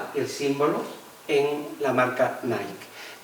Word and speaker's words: Nike: símbolo en la marca Nike. Todo el mundo pronuncia Nike, pero evidentemente está reproduciendo la palabra griega Nike, que significa victoria.